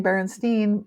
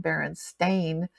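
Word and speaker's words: Berenstain: of those are appropriate because it's always been baren stain like a stain on the carpet or a stain on your clothing now do you remember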